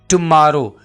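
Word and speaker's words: tomorrow: हो रहे हैं क्योंकि जब हम इस वर्ड को बोलते हैं तो हम ऐसे कहते हैं टुमारो तो जो स्ट्रेस है जो हम जोर डाल रहे हैं वो हम एम पे डाल रहे हैं एम लेटर पर डाल रहे हैं तो स्टूडेंट्स को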